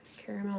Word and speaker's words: caramel: I don't often pronounce the middle A, just I guess out of habit. That's always how I've said it.